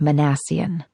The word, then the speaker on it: Minassian: Just for kicks, it's pronounced Manassian.